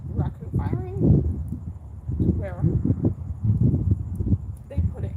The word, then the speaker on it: raku: Oh, at least my pottery teacher called it raku firing, but I think it's spelled Raiku. Seems like it should be pronounced Reiku. I don't know. But she always pronounced it like raccoon with an N.